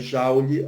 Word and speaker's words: Joule: sistema internacional é o jaule escreve-se Joule Tá mas é saule a pronúncia é representado aí pelo